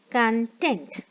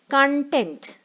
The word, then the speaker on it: content: meanings and different pronunciation when i say content content it means happy or satisfied okay when i pronounce it in a different way content it means all that